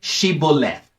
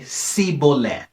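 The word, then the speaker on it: shibboleth: would say to him then say shibo left but he would say sibo not being able to pronounce it correctly there upon they would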